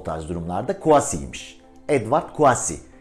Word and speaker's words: Kouassi: video olarak o tarz durumlarda couvas iyiymiş evvah kuasi okunuşu Bu en son söyleyelim merak ediyorsunuz merak ediliyor